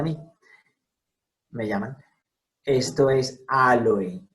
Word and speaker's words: Aloe: Entonces, se marca la diéresis en la O para indicar al lector y hablante que esa vocal en esta palabra sí suena.